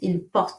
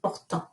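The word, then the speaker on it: ils portent: Okay, and notice how I pronounce it is il porte, not portant. Il porte.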